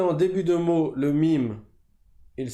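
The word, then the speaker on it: ميم: AMEN donc la lettre MIM comme j'ai dit tout à l'heure ça se prononce comme le M en français donc les deux lèvres vont se toucher et elle s'écrit différemment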